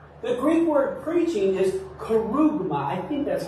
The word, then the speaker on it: kerygma: The Greek word preaching is kerygma. I think that's how you pronounce it. Kerygma. I've heard it kerygma, but I think it's kerygma.